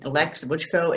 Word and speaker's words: Leks Vucho: reach you at sure my name alex buchko it's spelled differently l e k s v uh v-u-c-k-o but even if you